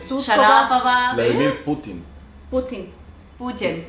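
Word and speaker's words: Шарапова: Aunque en real ustedes siempre ponen mal el acento, porque real es Volkova, Putin, Sharapova.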